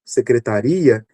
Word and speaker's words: secretaria: E eh no segundo caso, secretaria a sílaba tônica aqui no final, né, identificando o lugar.